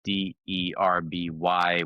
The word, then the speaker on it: Derby: Having having a rivalry in the same town, it's spelled D E RB Y. We say Derby. Uh we pretend that we're British.